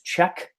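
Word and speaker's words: Czech: pronounce that better because it is check as in cze CH King as in a king a question about check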